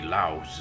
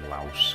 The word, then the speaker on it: Lao: I think I've been pronouncing his name Laos, but I think it's like Lao, actually.